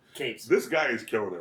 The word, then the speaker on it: Cates: Donnie Coates or Cates? How do you pronounce his last name? Cates.